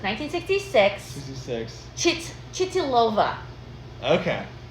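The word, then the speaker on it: Chytilová: And I don't know how to pronounce this. The director's name. So it's 1966. 66. Chitilova. Okay. Chitlova.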